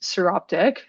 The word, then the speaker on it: Psoroptic: So Psoroptic mange is pronounced Psoroptic.